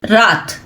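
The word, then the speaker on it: wrath: बचाओ from the एंपरर्स रात रथ means होता है एक्सट्रीम एंगर या क्रोध कह सकते हो। W silent. ओके?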